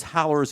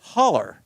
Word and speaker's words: Howler: And strangely enough, Dan, he spells it just like the famous howlers in Jackson, but they pronounce it holler. Yeah, we'll have to get that right. When you look at it, we s we sure want to say howler, don't we?